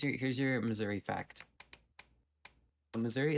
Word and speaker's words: Missouri: here's your Missouri fact Missouri is the only US state that has no official correct pronunciation some some of the common pronunciations include Missi misura and Misouri and in Canada we call it Missouri go also let's just